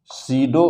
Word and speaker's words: pseudo: इसे कहते हैं ना सीडो वेक्टर। क्या बोलते हैं बेटा? सीडो की स्पेलिंग बेटा पी से शुरू होती है, PSEUDO,